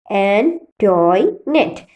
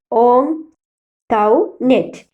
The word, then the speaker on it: Antoinette: Most of them pronounced it as Antoinette, but Kunjichirudha learned from Antoinette that the name ought to be pronounced Ontoinette.